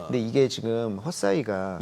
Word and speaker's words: Hesai: 요게 이제 헛사이가 이제 글로벌 라이다 쪽에서 1위거든요. 시장 점유율이. 헛사이라고 발음해야 돼요? 헛사이, HESAI.